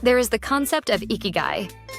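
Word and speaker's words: ikigai: First, there is the concept of ikiguai pronounced eeky.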